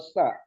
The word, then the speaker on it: ث: Oke, itu ta atau sa? Sa. Cara pengucapan yang Sa.